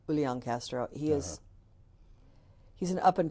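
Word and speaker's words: Julián: I enjoyed listening to Julian Castro he um which I didn't pronounce it correctly Ulan Castro he is he's an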